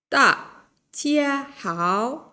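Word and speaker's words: 大家好: পেরেছেন তা চিয়া হাও ডি কে এখানে থ প্রোনাউন্স করা হচ্ছে থ বাংলার থ উচ্চারণ করা হচ্ছে ডি কে ডি কে কখনো দ ক কখনো থ উচ্চারণ করে ডি কে চাইনিজ ভাষায় কখনো ডি উচ্চারণ করে না তাহলে এটা হচ্ছে তা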